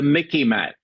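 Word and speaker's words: MICIMATT: It's the Mickey Mat. Okay. Now, it sort of rhymes with Mickey Mouse, so you might remember that.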